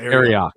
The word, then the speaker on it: Arioch: Is it Arioch? Arioch? How do I say it? You got it the first time. That was it. Arioch.